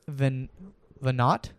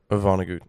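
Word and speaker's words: Vonnegut: But for this week, we have one from Kurt Van Venat. Vanagu, I think. Vanagu is how pronounces.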